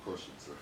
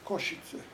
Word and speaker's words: Košice: Košice. Košice. It's called Košice again. That's spelled K-O-S-I-C-E.